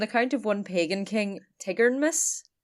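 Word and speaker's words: Tigernmas: there is an account of one Pagan King Tigard Miss it's t-i-g-e-r-n-m-a-s Tigger like from poo tigeredness who knows I'm pretty sure I mispronounced uh nifelheim last episode because Yoon was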